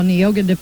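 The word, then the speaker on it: Neoga: sir shootout at nioga saw nyoga that's how you say it 46 to 39 and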